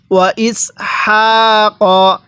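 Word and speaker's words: وَإِسْحَاقَ: ওয়া ইসমাইলা, এরপরে ওয়া ইসহাক, হ্যাঁ কিভাবে পড়তে হবে? ওয়া ইসহাক, এই হায়ের মধ্যে আমরা এক আলিফ টান দিব। এই হাটা উচ্চারণের সময় মুখ দিয়ে হালকা বাতাস বের করতে হবে।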